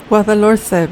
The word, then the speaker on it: Guadalhorce: I'm not even going to try to pronounce the name of this river. Can't roll my R's. My wife's a Spanish speaker, and so I'll insert her pronunciation. Guadalhorce River.